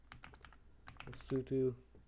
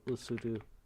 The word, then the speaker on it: Lesotho: Lesotho. I think it's supposed to be pronounced like Lesotho, not Lesotho. That's what I heard. I used to pronounce it like Lesotho, so but I'm trying to pronounce like Lesotho right now.